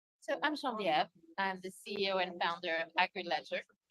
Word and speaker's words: Genevieve: So I'm Genevieve.